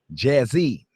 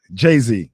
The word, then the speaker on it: Jay-Z: You just dated yourself by pronouncing that man's name wrong. You know that, right? Jazzy. Jay-Z. Jay-Z. Jay-Z, okay. Jay-Z.